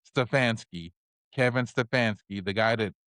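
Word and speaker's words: Stefanski: Stfansky.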